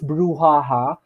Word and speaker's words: brouhaha: definition from webster right and it's cool it's pronounced as brouhaha brouhaha means uproar right rappro means so we